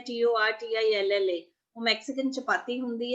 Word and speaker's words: tortilla: okay so this is prawn and these are tortillas ਇਹ prawn ਹੈ it is a kind of